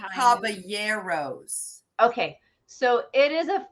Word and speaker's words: Caballeros: you know the three carbonara rides you know the Donald Duck ride did I say it right no trying to rhyme with the habanero pepper three Caballeros okay so it is